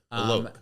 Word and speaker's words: Alok: Alok.